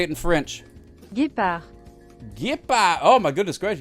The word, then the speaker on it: Guépard: Guépard.